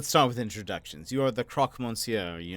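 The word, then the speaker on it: Croque Monsieur: with let's start with introductions you are the Croc Monsieur are you not that's the Croc The Croc moncio to you mongio people always get the pronunciation wrong I'm not really hearing the difference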